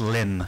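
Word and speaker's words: Lympne: If you look in the book, we do actually put, in parentheses, Lim. Pronounced Lim, yeah.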